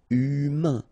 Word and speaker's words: humain: Remember, H doesn't exist. So, U, then A-I-N together. Un. Humain.